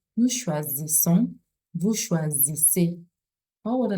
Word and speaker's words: choisissons: The Z sound because the S is found in between two vowels, and then the deux S, the double S is pronounced as S. Nous choisissons, vous choisissez.